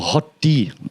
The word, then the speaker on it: HOTD: of Thrones SL hotd I learned that from YouTube to say it like this or hot D that's actually I learned to say hot D okay so what I